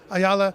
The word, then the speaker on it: Ayala: fight Gormley, and then he wants to fight Ayala again. Is that how you say his name? Yeah. Ayala, and then he's worried about whatever else later.